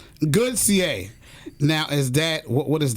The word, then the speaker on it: Gauthier: How do you pronounce his last name? Goodier. Goodier.